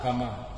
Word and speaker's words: Kama: Karma or Kama? Kama. Yes. Spelling the Chunda pronunciation of Hagatam.